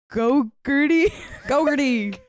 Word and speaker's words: Gogarty: Aloysius Gogarty. Like the yogurt.